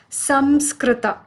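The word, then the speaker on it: saṃskṛta: the word sanskrit with its correct spelling and pronunciation being sam skrita and its general meaning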